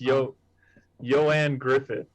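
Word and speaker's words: Ioan Gruffudd: it looks like uh like ian with an o and then his last name looks like graffood but it's yo joanne griffith yeah i had to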